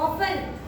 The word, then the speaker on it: often: Often. T is silent.